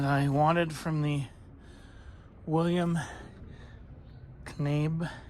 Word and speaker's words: Knabe: So I have taken the things that I wanted from the William Knabe. I have to think that K is silent.